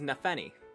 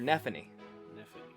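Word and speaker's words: Nephenee: messes me up so this is nefeny or nephny and it's spelled with a p anyway ph in there so basically she is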